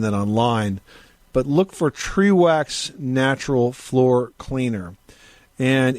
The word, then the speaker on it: Trewax: okay that sounds good trewax is spelled t r w ax okay one e okay got it all